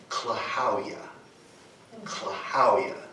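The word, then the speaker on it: klahowya: l a and then I'm going to capitalize these because this is where the emphasis is so claa claa we can remember it with a knock knock joke if you if you'll go along with me on this knock knock who's there CL who CL how you doing and you just leave the doing off and you're there you have you have it what was the other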